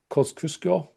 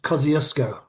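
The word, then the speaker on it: Kosciuszko: Is that how you say it? Koskusco. It's Kiosco.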